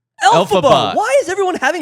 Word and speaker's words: Elphaba: Elphebra is like, fucking help me, what's her name? Elphaba.